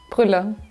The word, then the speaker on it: Brueller: I know her last name, I just don't know how to pronounce it. I say Brueller, and you say? Brueller.